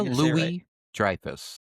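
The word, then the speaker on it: Louis-Dreyfus: Jason Alexander and uh Julie Julia, how is it pronounced? Julia Louie Drifus.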